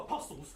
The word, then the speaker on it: apostles: How are you the only one silent T around your apostles? No one said apostles because there's a silent T in apostles.